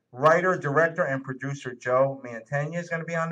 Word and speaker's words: Mantegna: From Bologna, Mantegna.